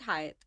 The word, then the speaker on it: Hyatt: I came back and I worked here at Hyatt. Hyatt Calcutta. Calcutta. Hyatt Regency. एक तो लोग हयात बोलते हैं. हाँ, it's not Hyatt. It's Hyatt. Hyatt. Hyatt. Hyatt or Hyatt.